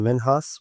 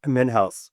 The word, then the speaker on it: Minhas: Minhas with the M I N H. Uh, not house. I don't know why people make that mistake, but it's perfect. I am I pronounced name wrong. Men house.